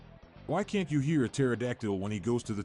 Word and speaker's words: pterodactyl: Why can't you hear a pterodactyl when he goes to the toilet? Because the P is silent.